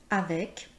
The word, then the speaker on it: avec: Par exemple, avec, donc, hamac, nous voyons que le C est prononcé.